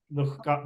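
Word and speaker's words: दुःख: that H dot, is that Jihva Mulya? Yes, exactly. Dukkha. That's the right pronunciation. Dukkha. The presence of Visarga should be felt, and it can be felt only with Jihva Mulya.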